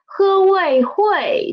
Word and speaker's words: 会: as draw first huay this word hui the initial the final oy and the tone is the first tone huawei hui read after